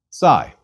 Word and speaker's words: psi: we please repeat Kai Sai Sai is another double consonant equivalent to PS Sai is pronounced like the PS at the end of lips please repeat Sai and